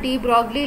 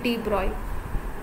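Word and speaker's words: de Broglie: ठीक है, एक साइंटिस्ट है डी ब्रॉय, लिखा जाता है डी ब्रॉगली लेकिन इसको प्रोनाउंस करते हैं डी ब्रॉय।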